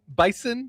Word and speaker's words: Bison: Bison, does it? Z. It's with a Z.